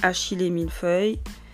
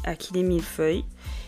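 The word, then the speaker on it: achillée millefeuille: la kil 1 feuille moi j'ai appris à prononcer achil milfeuille mais en France on dit Akil milfeuille et vous pouvez prendre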